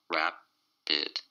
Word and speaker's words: rapid: It's two syllables, and the stress is on the first syllable. Rapid.